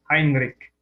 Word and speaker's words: Heinrich: for herbert william heinrich other pronounce it as heinrich it's pronounced as heinrich okay 88 percent 88